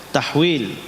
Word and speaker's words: tahwil: Ha itu tahwil, dibacanya tahwil. Wa haddatsana Ishaq.